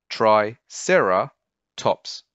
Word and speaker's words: Triceratops: Three syllables, tri-cera-tops, Triceratops.